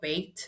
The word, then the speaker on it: Bayt: So it's Bait there. And yes, I know I'm saying it wrong. I'm not saying it the Arabic way, but I'm not Arabic, guys.